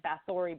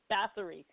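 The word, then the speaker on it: Báthory: I always said Bathory, but I think it's Bathory, and he says that you're all saying it wrong. It's Bathory because of the pronunciation or something.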